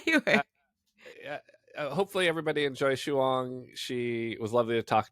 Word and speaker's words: Shuang: Well, in Chinese, it's Shuang, Shuang.